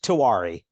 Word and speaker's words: Tiwary: with bacon cake yeah last game tawari that one's more like how it looks the fake to worry